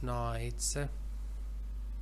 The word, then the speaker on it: knights: Many gallant knights, K is not pronounced, entered the contest to win the princess.